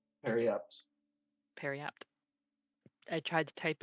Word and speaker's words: periapt: That's how you spell that. I was wondering. Of what? When you said like parapt, Periapt.